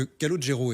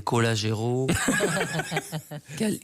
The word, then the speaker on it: Calogero: album les gens disaient Colagero Caligro Calimero. Ils ont fini par y arriver et mais en la vraie prononciation en sicilien c'est l'accentonique. Il est sur le lot Callodge alors.